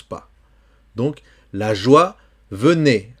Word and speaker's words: venait: Donc, la joie venait. Attention ici, c'est un verbe, ce qui est un imparfait. A-I, c'est E. Et le T final ne se prononce pas.